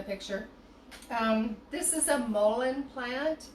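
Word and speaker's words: mullein: um this is a mullin plant m-u-l-l-e-i-n sometimes i pronounce it mullion just because i want to fully feel the the the letters in my mouth because i love this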